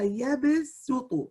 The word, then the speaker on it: يبسط: The ayah, this part of the ayah is read, Wallahu yaqbidu wa yabsutu. So in our qira'ah, riwayat Hafs, we pronounce it with a sin.